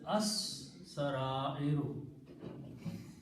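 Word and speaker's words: السَّرَائِرُ: And in the recitation, Seen being a Shamsi letter kills the sound of Lam, so it is pronounced as As-Sarairu.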